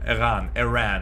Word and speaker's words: Eran: Iram, say Iran. You spell it E-R-A-N.